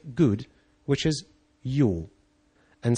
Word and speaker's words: jó: They say good, which is jó. And since you already know how to pronounce a Hungarian J, and you also have a basic knowledge about electricity, you have won your first victory.